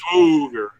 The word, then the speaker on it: Swagger: So yeah, it's a long O too. Swoger. Yes. Swoger.